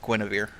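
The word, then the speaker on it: Guenhwyvar: Yeah, although it's spelled oddly, it's actually pronounced Guinevere.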